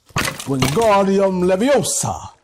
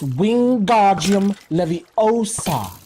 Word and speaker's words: Wingardium Leviosa: "Wingardium Leviosa!" he shouted, waving his long arms like a windmill. "You're saying it wrong," Harry heard Hermione snap. "It's Wingardium Leviosa. Make the gar nice and long."